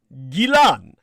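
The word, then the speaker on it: Ghislaine: an entirely different pronunciation the most commonly anglicized version is said with a hard g like grab or grope or grit a hearty like keep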